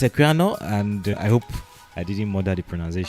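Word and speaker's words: Equiano: it's called Google aquano how do you pronounce it it's aquano and I hope I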